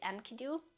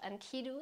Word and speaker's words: Enkidu: And that's when they create Enkidu, or I think it's called Enkidu actually, from like how the syllables are stressed.